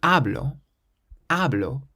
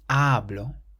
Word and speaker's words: hablo: So the first one, you stress the first syllable, hablo, because there's no accent and it ends in a vowel, we stress the syllable before last, hablo.